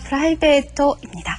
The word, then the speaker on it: プライベート: 프라이베이토입니다. 철자, 타금도 들어있고 장음도 있습니다. 정확하게 발음도 하셔야 되겠죠?